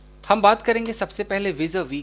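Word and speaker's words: vis-à-vis: चलिए गैस, हम बात करेंगे सबसे पहले विज अ वी की। विज अ वी, हम लास्ट में एस है बट प्रोनाउंस नहीं करेंगे, विज अ वी।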